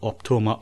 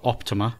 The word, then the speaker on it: Optoma: I quite like what Optoma or Optima depends how you want to say it I really like do they have a way of pronouncing it is there always said I've always said Optoma but then I've I've had a few people saying Optima recently and and including